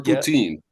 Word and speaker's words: poutine: There's two ways you can pronounce it. Food. Yes, it does sound poutine like or poutine.